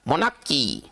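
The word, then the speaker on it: monarchy: वो मोनार्की होता है मोनार्की इसको उच्चारण क्या होगा मोनकी ना इसका सही उच्चारण होगा मोनकी इसका सही उच्चारण मोनकी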